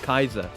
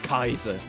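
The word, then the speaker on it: Kaixa: I thought it was like Kaiser, but no, it's Kaiser. Because it's spelled K-A-I-X A. So like it's spelt weird because it's supposed to have like the letter Kai within it. But it's supposed to be said like Kaiser, which is incredibly cool.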